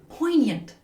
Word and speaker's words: poignant: Poignant poignant. Poant. Notice how the G is silent.